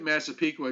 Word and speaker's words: Massapequa: thankfully you look at massapequa if you look at it long enough you it you you say it the way it's spelt so that at least